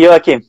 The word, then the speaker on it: Joaquim: The name Joaquim. Is in Spanish, is in Catalan, but Catalan, yeah. It's like Joaquim. Okay, yeah, that's why, because in Catalan it's Joaquim, in Spanish it's Joaquim.